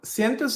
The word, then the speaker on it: cientos: what is sientos so sientos is another package it was like a soup package of the ecosystem and it's basically the Spanish word from hundreds pronounced sientos it's a collection of